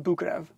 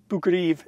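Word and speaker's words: Boukreev: own words by the way that's how you pronounce it bukrev bhukriv is what it looks like but it's bukurev this book was published before into thin air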